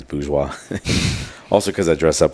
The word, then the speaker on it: Bourgeois: business after hours uh people call me bougie cuz they can't really pronounce boua also cuz I dress